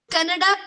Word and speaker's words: Kannada: Ma'am in कनाडा नहीं है education बेटा। इट इज रिटन, आपको बोलती मैम हूँ, तमिल, प्रोनाउंसिएशन आप सही कन्नड़, करो। Ma'am, Kannada.